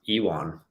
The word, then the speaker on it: Ion: I think it's actually pronounced Iwan.